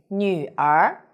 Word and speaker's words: 女儿: hello i'm sunny the word of today is nu r in this video i will teach you how to pronounce it how to write it and how